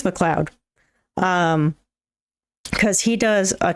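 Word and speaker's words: MacLeod: pronounce his name wrong it's McLoud or M McLoud I think it's McLoud um because he does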